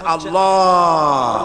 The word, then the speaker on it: আল্লাহ: আল্লাহ পাকের উচ্চারণটা হচ্ছে আল্লাহ পাকের নামের উচ্চারণ হচ্ছে আল্লাহ মুখটা একটু গোল হয়ে যাবে বলেন আল্লাহ আল্লাহ আল্লাহ সুবহানাল্লাহ।